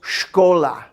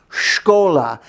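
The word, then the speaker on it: школа: school and that is shkola shkola and you might see sh cola and you're in the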